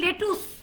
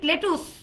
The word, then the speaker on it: lettuce: আমরা বলি লেটুস, লেটুস, right? লেটুস, এটা কি লেটুস হবে? Is it lettuce? It's lettuce, lettuce, right?